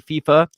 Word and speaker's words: FIFA: guess well most uh most other countries don't pronounce the I as an eye or an like Spanish it's primarily like South America and Spaniards and stuff so I would assume it'd be FIFA because they pronounce the